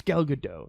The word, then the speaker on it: Gal Gadot: It's Gal Gadot. She's Israeli. No hard T.